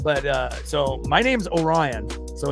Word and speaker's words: Orion: So, uh, I don't have it displayed here on the channel, but, uh, so my name's Orion. So, it's like the constellation like Orion's belt spelled the same way.